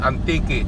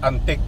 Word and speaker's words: Antique: maia spk kulasi wow it is pronounced Antique three syllable not Antique Americano mag pronounce ni